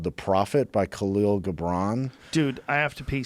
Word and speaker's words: Gibran: Gibran?